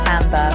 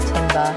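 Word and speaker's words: timbre: This is tambber, pronounced tambber, which I always forget calling it timber like a falling tree.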